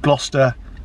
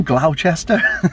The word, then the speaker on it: Gloucester: film and they called gloucester glau glauchester it wasn't american saying it in fact it was cursed and danced doesn't it she's like you from glouchester it's like no it's gloucester actually he even says